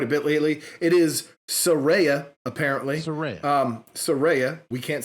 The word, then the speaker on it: Saraya: It is Saraya, apparently.